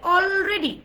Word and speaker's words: already: already, already, already, already, already, already, already, already, already, already.